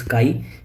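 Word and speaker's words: χ: Basically we call this काई, ठीक है। एम इक्वल टू काई इंटू एच, ठीक है। इसको के वाई काई या के ए आई काई प्रोनाउंस करते हैं, ठीक है।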